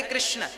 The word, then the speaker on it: कृष्ण: शुद्ध उच्चारण इसका क्या है? हरे राम राम राम हरे हरे, हरे कृष्ण कृष्ण कृष्ण हरे हरे।